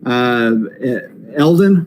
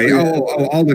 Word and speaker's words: Alden: And then, so I am not a fan of this selection, but Eldon, is that how you pronounce his name? For Han? Oh, yeah. Alden Ehrenreich.